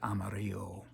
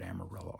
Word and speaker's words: Amarillo: I say Amarillo Amaro I include those that pronounce it amario the original pronunciation the higher Consciousness pronunciation but I don't want to leave out those that pronounce it amarilla also this is for